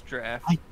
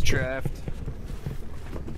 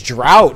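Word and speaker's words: draught: wait wait wait wait how do you pronounce that word it's draft I thought it was drought for some reason no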